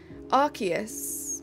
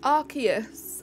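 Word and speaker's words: Arceus: part of the community archus archus I believe is the prect guys I need to end stream the correct pronunciation do it for 3K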